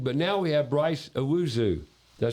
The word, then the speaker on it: Owusu: We're talking to Precision Plumbing, but now we have Bryce Owusu.